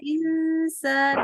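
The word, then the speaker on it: إنسان: in Insan gitu kan Insan itu kan in k San jadi bacanya Insan bukan bukan in bukan in tapi Insan jadi lidahnya sudah mau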